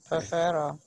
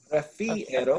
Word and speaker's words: prefiero: Prefero. Prefiero.